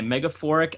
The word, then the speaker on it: Megaphoric: is from Turquoise Splash, and he also featured Megaphoric, I think it's called. Is that how it's Yeah, pronounced? that's how it's pronounced. Yeah. Okay, Megaphoric and Jof the Loaf, and the song is